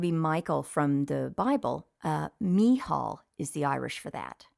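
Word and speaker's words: Mícheál: another one would be Michael from the Bible me Hall is the Irish for that right knee Hall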